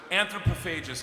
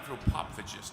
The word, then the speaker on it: anthropophagus: it pronounced before so I was pronouncing an anthropophagous you idiot I know and then